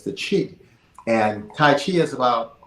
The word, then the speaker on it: qi: It's spelled QI, but it's pronounced chi, and it's something in the air.